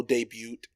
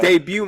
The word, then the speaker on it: debut: is david's uh pro debut um he was undefeated as an amateur i think the t is silent yeah it is it